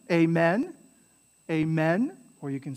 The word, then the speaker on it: amen: end with amen amen so in english it's stressed on the men in latin is stressed